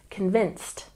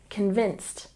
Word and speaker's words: convinced: goals and remember here when we pronounce convinced we stress the second syllable convinced convinced once again convinced remember that you can